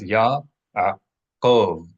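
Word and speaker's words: יעקב: With regard to the name Yaakov, Jacob, make sure you are pronouncing this name as three syllables, not two. It's not Yaakov. It's not Yaakov. It's Yaakov. Yaakov. You can see it here. There are three vowels, each separated by a consonant that equals three syllables.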